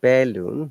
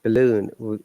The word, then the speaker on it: balloon: It is not balloon, it's balloon. A is the schwa sound, which is pronounced very softly.